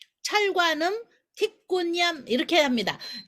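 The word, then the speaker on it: 鐵觀音: 그래서 반은 숙성을 했고 반은 숙성하지 않은 그런 차를 철관음이라고 하는데 광동어로는 틱꾼얌이라고 부릅니다. 틱꾼얌. 자, 잘 모르시니까 이건 적으셔야 돼요. 틱꾼얌, 철관음, 틱꾼얌 이렇게 합니다.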